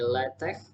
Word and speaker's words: LaTeX: di sini latex game kalau kita nyebutnya yalah teksnya sesuai dengan tulisannya tapi sebenarnya itu diucapkannya kayak gini letek letek telah Take N ever litex